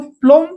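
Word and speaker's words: plumb: tomb नु टम okay cover समाधि एठी देखतो प्लम परे बी अछि एम परे बी अछि बी साइलेंट एठी प्लमर ओके प्लमर जोटा कि हमें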